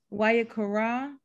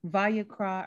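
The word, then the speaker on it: ויקרא: five six and seven why akara why yuck raw why you cry just kidding vayakra or why you craw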